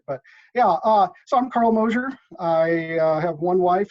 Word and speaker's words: Mosser: Well, first thing I'll point out is you pronounce my name the way most people do, but it's actually Mosher, kind of like Mosier. closure or exposure or something.